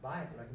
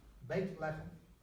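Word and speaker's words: בית לחם: you have bread, bait, it's not pronounced bayit lechem, this is construct, house of bread, you had a reduction to one syllable, bait lechem, house of bread, bait lechem, not bayit, because this is construct, you gotta express the of relationship.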